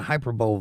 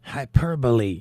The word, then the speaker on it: hyperbole: I received a text on one of my hyperbowl videos and it said it's pronounced Hyperbole and it had the little definition with the